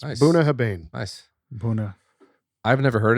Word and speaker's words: Bunnahabhain: have an idea I I think it's it's buah haban buah haban okay that makes more sense buah haban nice bua I've never